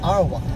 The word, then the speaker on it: Ottawa: ontario ottawa ontario uh they they pronounce it arwa ottawa yeah that's fine we